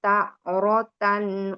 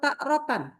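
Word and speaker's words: تارة: Tarotan atau takrotan? Tarotan, nggak ada Iya. hamzah. Oke, bagus. Nggak ada hamzahnya, betul.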